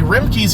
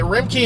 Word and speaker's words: Remke: The Remkes here are going out of business. The R-E-M-K-E, Remke. I guess that's how it's pronounced.